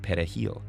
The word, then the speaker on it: perejil: Dominicans pronounce it perejil with a trilled Spanish R.